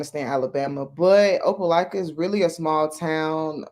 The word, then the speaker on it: Opelika: Opelika. Opelika.